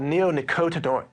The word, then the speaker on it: neonicotinoid: that again well it's in a class called neonicotinoid neonicotinoids is the class and that's just one